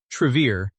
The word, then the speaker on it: Travere: The name pronounced Trevier derives from Latin roots meaning truth and path.